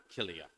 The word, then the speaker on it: Kilia: you wait uh and this is my daughter kilia he gestures to his daughter who's next to him uh it's spelled k i l i a her name